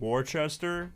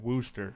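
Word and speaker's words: Worcester: town in Massachusetts is called it's looks like Worchester but they pronounce it Wooster yeah it's wer and that pisses me off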